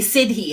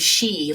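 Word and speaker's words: Sidhe: winse every time I hear him say Sidi instead of she like what it took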